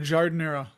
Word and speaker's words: giardiniera: Almost as good as pasta with giardiniera. Giardiniera, I love. That's a Chicago thing. And you got to say it like that.